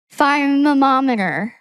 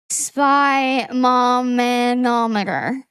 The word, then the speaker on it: sphygmomanometer: The S is not silent. Oh. Okay, so then sphygmomanometer.